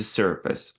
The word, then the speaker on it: surface: The surface. Обратите внимание на это слово, что это не там это не слово face, да, поэтому произношение этого слова будет surface.